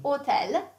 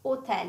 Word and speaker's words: hotel: And the H in Italian is mute. So we don't pronounce it.